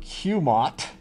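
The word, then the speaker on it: QMOT: qualitative molecular orbital theory or cumot we like to pronounce acronyms um a couple of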